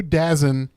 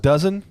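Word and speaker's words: DAZN: two Disney pluses I was paying for two dazin uh accounts uh I watch this commercial and I'm like no one's stupid enough to pay for two Disney pluses it's pronounced it's pronounced dozen dozen yeah dozen two dozen he he he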